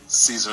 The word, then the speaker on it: Caesar: And before I go, actually, it's actually pronounced Caesar salad.